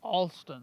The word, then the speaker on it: Alston: of the Palmetto Trail a l s t o n Altin Alin Altin funny wow pronounced just like my name the river's pretty today